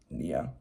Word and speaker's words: nya: There's one spelled N-Y-A, pronounced Nia, and another spelled N-I-A, pronounced Nia.